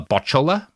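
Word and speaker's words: Butchulla: One of them, the Bochola, which is usually spelled Butchalla, but there's like 3 different spellings that are all correct because it's like an anglicization, right?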